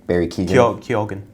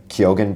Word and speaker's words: Keoghan: Barry Keoghan. Keoghan. Barry Keoghan is hilarious in Banshees.